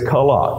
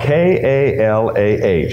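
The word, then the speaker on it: כָּלָה: It is kalah, K-A-L-A-H, and it's just simply a transformation there of the C into the K into the English to help us know its pronunciation.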